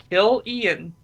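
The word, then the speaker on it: Cillian: is pronounced is it selan or Killian because I've heard it both ways I'd assume it's Killian like if it was spelled with a K but spelled with a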